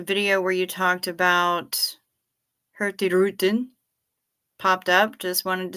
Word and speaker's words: Hurtigruten: Speaking of ships, a video where you talked about Hurtigruten popped up. Just wanted to say the G is silent, so if you say Hurtigruten, you will be a pro.